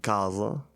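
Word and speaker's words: casa: It's not kro or not centro like in Italian you would say centro I think and kaza and this also makes an s sound.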